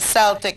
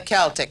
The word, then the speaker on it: Celtic: Many people mispronounce it and call it the Celtic cross. Well, Cleo's going to tell you it is called the Celtic cross.